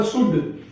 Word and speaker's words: should: जैसे SHOULD, इसमें L silent रहेगा क्योंकि ये D से पहले है, तो ये बोला जाएगा शुड।